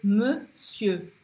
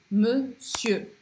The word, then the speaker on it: monsieur: E da mesma forma que esse EUR, eu não pronuncio o R, e eu também vou falar monsieur, monsieur.